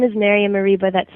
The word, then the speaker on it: Mereba: little Tongue Tied so my name is Maria mariba that's spelled m a r i a an m